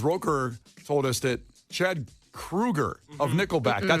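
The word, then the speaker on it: Kroeger: of correcting people so it's Chad not Chad Kroger it's Chad Krueger no it's not I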